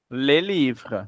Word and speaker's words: les livres: Só que você não pronuncia o S. Les livrets. Les livres.